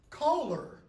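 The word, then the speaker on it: choler: news could be but colar is the same pronunciation as colar the source of anger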